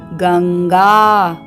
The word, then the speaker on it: गंगा: पंचमाक्षर है हलंत ंग तो यहां पर अनुस्वार का उच्चारण होगा हलंत ंग की तरह तो ये बनेगा गंगा आइए इसका वर्ण विच्छेद